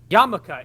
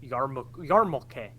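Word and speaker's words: yarmulke: the actual story yeah but Google Google instead yamaka is a mispronunction of the word yarmuke yeah but do what I said what the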